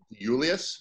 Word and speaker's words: Iuliis: It's pronounced Iuliis, so it's like almost like the first I is silent.